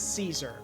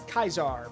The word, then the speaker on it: Caesar: In Rome they would have said they would have said Ius ulusio Kaisar or sorry sorry gas ulus Kaisar. So cuz they say it wrong. Yeah. So it is so to the Romans it is Kaisar.